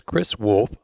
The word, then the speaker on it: Chris Wolf: Tonight, Rainwater Studios presents Chris Wolf of Mooresville, Indiana. He spells his name with a CH, but pronounces it with a K.